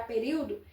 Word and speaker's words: período: Período, a sílaba tônica é a antepenúltima. Porque aqui nós temos um hiato, ó.